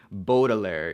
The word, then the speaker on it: Baudelaire: me thinking about so the reason why I pronounce it boggler rather than Baudelaire is because when I